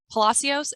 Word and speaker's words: Palacios: So Palacios, is that how you pronounce it?